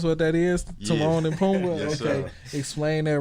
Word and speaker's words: Pumbaa: Pumbaa, like just like Lion King. That's what that is. Timon and Pumbaa.